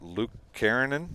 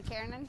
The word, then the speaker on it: Lukanen: I had, how do you say in the first game, Catherine's is Luke Karanen? Catherine Lukanen. Lukanen?